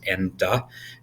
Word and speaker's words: Enda: parents did so um it's spelled e-n-d-a which is exactly how it sounds so end da you will find that most people will try to call me edna at least once and that will immediately